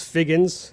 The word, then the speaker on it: Figgins: We've been chatting with each other, and I had to make sure I pronounced his name right. It's Figgins.